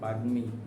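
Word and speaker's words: বাগ্মী: কন্ঠ ও তালু আ এর সংকৃত উচ্চারণ রয়েছে কোন শব্দটিতে জ্ঞান বাগমি শব্দের সঠিক উচ্চারণ কোনটি বাগমি নিচের কোন শব্দটিতে ইও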